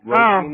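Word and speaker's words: Róisín: This new Roisin Murphy album, Roisin Machine. How do you pronounce it?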